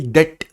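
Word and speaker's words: debt: से 25 पर external डेट डीई बीटी B silent है एक्सटर्नल डेट यानी बाहर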